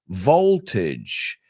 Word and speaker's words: voltage: pronouncing the word correctly it's not voltage voltage or rage like Bridge voltage Village language there's your homework I